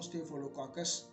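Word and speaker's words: Staphylococcus: दोबारा रिपीट करता हूँ, स्टेफिलोकाकस इसको प्रोनाउंस करेंगे।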